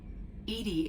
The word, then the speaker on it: EDI: why are you named Edie Edie is the phonetic pronunciation of EDI that is an acronym for enhanced defense intelligence what do you do